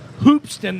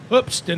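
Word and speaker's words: Hoopeston: in hoofston illinois and if you pronounce it hoopston that's completely wrong it's hoopston illinois and uh he grew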